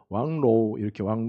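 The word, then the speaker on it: 望楼: 그래서 이 망대 운동을 중국말 이게 통역하는 이제 들어보니까는요, 왕로우 이렇게 얘기하더라고요. 왕로우가 망루를 이제 중국어로 이제 발음한 거예요.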